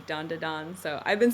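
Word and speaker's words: Dandadan: pronouncing it dandon or Dandan D in English a lot of people say Dandan but I think in Japanese it would be dandon so I've been saying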